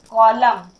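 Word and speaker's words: column: यहाँ COL UMN, इसे हमें क्या क्या पढ़ना है, कॉलम। एन का साउंड यहाँ भी नहीं हो रहा है बट यहाँ पर लिखा गया है कॉलम मतलब स्तंभ।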